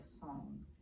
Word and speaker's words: song: Tai Chi principle of song and it's spelled like sing a song s Ong but it's really just